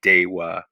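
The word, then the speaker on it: Deva: military camp uh at diva d-e-v-a uh otherwise pronounced of course in latin day uh so we're gonna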